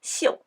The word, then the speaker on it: 宿: This character has three pronunciations: su, xiu, xiu. Each sound refers to a specific meaning. In this context, it means the stars in the sky. Therefore, the sound is xiu.